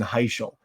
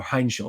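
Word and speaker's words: Heintschel: Uh, you know, they made the change to Mason Heel or Heinshell, excuse me, is how how it's pronounced.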